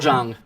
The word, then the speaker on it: Jung: Correct, Carl Jung.